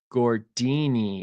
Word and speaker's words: Gordini: show for tonight gordini gordini is how you pronounce it popular for ski good